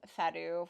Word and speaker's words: Fado: event was House of Fado from Eagle-Gryphon Games. I had such a hard time pronouncing that. I literally looked it up. The internet says Fado, so that's what I'm going to say.